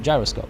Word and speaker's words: gyroscope: It's pronounced with a J sound, right? Gyroscope, yeah.